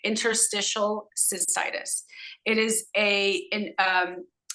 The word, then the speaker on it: interstitial cystitis: but I don't have interstitial cystis that's how you say it Interstitial cystitis it is a in